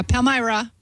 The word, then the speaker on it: Palmyra: Yeah, Palmyra. I used to live near Palmyra, Wisconsin. I was thinking of taking a road trip up there so I could work Palmyra from Palmyra.